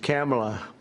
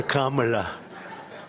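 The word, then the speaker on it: Kamala: It's a little different. It's Cam, right? Cam as opposed to calm.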